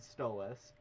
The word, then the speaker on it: Stolas: but yeah, By the way, so Stella and Stolas, that's how you pronounce their names. Stella and Stolas.